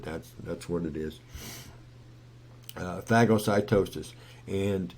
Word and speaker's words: phagocytosis: and drew a blank there yeah and it's pronounced uh phagocytosis which is unfortunately but that's that's what it is phagocytosis and it's a pretty cool process now all